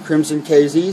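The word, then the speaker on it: Krimson KZ: Crimson KZ, sorry. Crimson KZ, that's spelled Crimson with a K.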